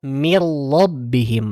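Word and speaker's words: مِن رَّبِّهِمْ: Ada min, nun sukun ketemu dengan ro. Mirlobbihim. Maka dibacanya dengan lebur.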